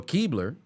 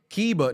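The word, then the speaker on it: Kleber: Keba. No, I think they said Keebler because there's an L in there and it's not silent.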